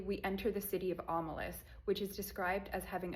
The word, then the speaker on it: Omelas: Also, side note, when I read this for school, we were pronouncing it Omelas, but looking online, it seems to be Omelas. Correct me if I'm wrong.